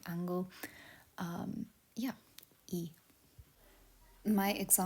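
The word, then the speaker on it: い: means baby a kachan the second herana is e um it's kind of said like key the end of key e um there's some it's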